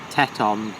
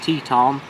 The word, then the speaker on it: Teton: British might say Teton because that's how it's spelt, but in American it's Teton, which rhymes with Nissan, apparently, the car manufacturer.